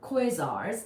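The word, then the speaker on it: quasars: So since somebody asked about quasi stars or quazars, that's exactly how you say it.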